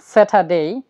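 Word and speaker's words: Saturday: ডেই করছি আমরা বলছি স্যাটারডে স্যাটারডে কোন ওয়ার্ডের শেষে যদি এ ওয়াই থাকে তাহলে এর উচ্চারণ বাংলা রস্য ই এর মত হবে এর উচ্চারণ বাংলা রস্য ই এর মত হবে যেমন স্যাটারডেই সানডেই লেই মেই ওখেই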